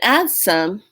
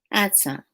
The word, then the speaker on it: adsum: and this call at some adds some and add some it's spelled a-d-s-u-m and add some it's from the